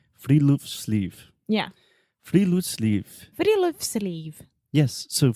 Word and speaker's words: Friluftsliv: Alexia, do you want to take a guess at how to pronounce this? We already know because we were practicing. So give it to me. It's Friluftsliv. Friluftsliv.